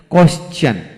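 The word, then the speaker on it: question: তবে নোট হলো কিছু কিছু ক্ষেত্রে টি এর আগে এস থাকলে টি এর উচ্চারণ চ এর মতো হয়। যেমন কোয়েশ্চেন, কোয়েশ্চন, এইভাবে হবে, কোয়েশ্চন হবে।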